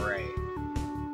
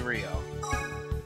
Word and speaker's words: Rio: In the last video I kept calling this man Ray. But his name is most definitely Rio.